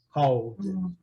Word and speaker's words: called: Termina com a letra L. Então, o E não é pronunciado. Ok? Called.